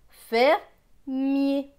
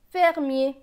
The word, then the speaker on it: fermier: F avec ER, ER se prononce R, donc F et R, faire. M avec IER, IER va se prononcer yé, donc M et yé, mier. Donc ici, ça va se lire fermier, fermier.